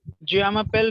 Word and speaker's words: je m'appelle: Very good. J m'appelle. Yeah. Je should be like je m'appelle.